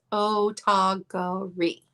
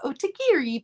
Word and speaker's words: Otagiri: six different ways yeah if you go to um google and ask them how to pronounce it correctly you will get a i believe japanese woman who tells you it is autogori but honestly i like otagiri better it sounds more fun rolling off of the tongue oh tigier